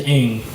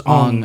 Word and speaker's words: Aang: the main character's name is Aang, right? And in the movie it was Ong.